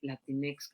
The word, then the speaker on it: Latinx: no estoy muy enterada Pero cuando vi dije latinex cómo se pronunciará latín y luego cada quien le pone